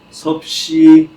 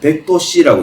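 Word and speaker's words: 섭씨 도: 이거 참고로이 도씨 쓰죠 이거 정확하게 읽을 때는 여러분 섭시 도라고 읽어야 합니다 도시라고 읽는 거 아니에요 섭시 도라고 읽어야 맞다 어쨌든 물은 끓는 점이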